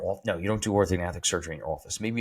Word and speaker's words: orthognathic: Yeah, orthogonatic surgery. That's how you pronounce orthognathic surgery. You do pronounce the G.